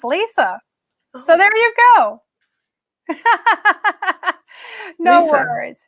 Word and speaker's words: Lyssa: is it is spelled or Alissa pronounced Lisa so there you go no no from now